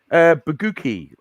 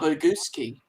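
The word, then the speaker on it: Bagucki: it's actually pronounced Baguski. You have to imagine the C as an S. Ah, Baguski.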